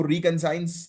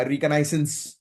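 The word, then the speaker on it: reconnaissance: ये drones spy work के लिए, जिसको रिकनसाइंस हम लोग जो है वो कहते हैं, या रिकनाइसेंस ऐसा उसको जो है वो प्रोनाउंस किया जाता है।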